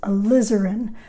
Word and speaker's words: alizarin: light this is alizarin crimson accent on the liz alizarin alizarin crimson this is ultramarine blue